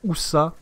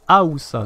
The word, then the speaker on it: Haoussa: l'impression que je disais Oussa. Alors que non, c'est Haoussa. Donc, il faut bien prononcer le A.